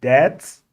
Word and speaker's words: debt: looking at our bad debts remember when we pronounce it the B is always silent right let us look